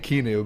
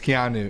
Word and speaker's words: Keanu: Keanu Ben yeah I I keep saying kinu but it's Keanu yeah it's literally like like it's spelled yeah yeah I know